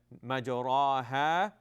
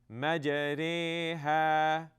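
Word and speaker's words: مجراها: This sound of the A sound, it's not going to be A, it's not going to be A, right? Majraha. Instead, it's going to have a sound. So this word is pronounced Majreha.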